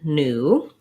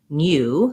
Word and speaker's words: new: We have the oo in new. In British English, they might say this as new. They have a glide y sound in there, but American English, we say new.